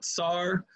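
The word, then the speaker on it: tsar: not be spelled c-z-a-r it should actually be spell sar t-s-a-r uh because uh it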